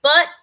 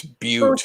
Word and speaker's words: Butte: Mud Butt, South Dakota. That's not butt. That's butte. Okay.